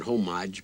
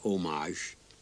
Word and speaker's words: homage: And uh we pronounce it homage, but it's pronounced homage.